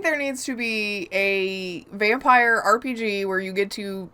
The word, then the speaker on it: Vampyr: It's still yeah, vampire, but I that's call the it one- vampire because of the way it's spelled.